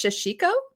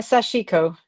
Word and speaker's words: sashiko: Do you call this shashiko? Uh sashiko.